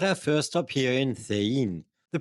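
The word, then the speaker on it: Cehegín: We're at our first stop here in Thein. The pronunciation is a bit tricky. In Castilian Spanish, the C before an E is pronounced th, like in thin, and the G like an H, as in hello.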